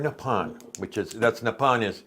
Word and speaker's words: Nippon: Air Nippon, that's how they pronounce Japan, the word, so it's Air Nippon.